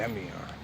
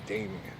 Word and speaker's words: Damien: Let's say it right, the Demion. Instead of the Greek way, Damien.